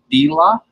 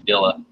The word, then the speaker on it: Dila: Is it Dila? You said it a different way. Like I was just calling you something else, and the way you pronounce it is much more like Islamic, like Middle Eastern.